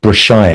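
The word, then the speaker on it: Brassaï: In fact, this film was very much influenced by a photographer called Brashai, and it's spelled Brassai, who shot very beautiful black and white photographs of Paris in the 1930s and 1940s.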